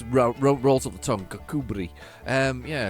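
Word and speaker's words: Kirkcudbright: a place in Scotland called kakubri um however it is spelled um cook bright how does that even get close um it's a good name though but it's rolls on the tongue kakubri um yeah it's not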